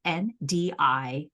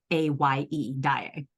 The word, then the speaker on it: Ndiaye: Her last name is spelled Ndiaye, Ndiaye. And her first name is Noémie, Noemie. And the first E in it has a little accent. So it's Ndyaye, Ndiaye? Ndiaye. A-Y-E.